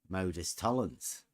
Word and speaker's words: modus tollens: Emma said, when when she was doing the voice over things like, how do you say modus tollens? And I said, Modus tollens.